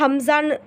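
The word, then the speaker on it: همزة: அப்புறம் அலிஃப் மேலே இந்த மாதிரி ஜபர் ஜேர் பேஷ் இந்த மூணுத்தில் ஏதாச்சும் ஒரு சிம்பிள் வந்துச்சு அப்படின்னா அதை நம்ம அலிஃப்னு உச்சரிக்காமல் ஹம்சான்னு, அதுக்கு ஹம்சா அப்படின்னு ஓதணும்.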